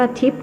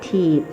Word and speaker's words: ทิพย์: ว่า นั่น แหละ อ้อ ต้อง ออก เสียง ว่า ทิพย์ รึ อาตมา นึก ว่า เขา เรียก ถีบ คน ฟัง พา กัน อม